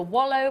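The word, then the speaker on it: Welo: It's from the Wellow mine, okay. Some people describe it as the Wallow mine, but it's also pronounced the Wellow mine. Both are completely phonetically acceptable.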